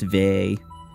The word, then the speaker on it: Vay: But yeah, anything anything like v a y would just be pronounced v. Like b a y is ba. That sort of thing.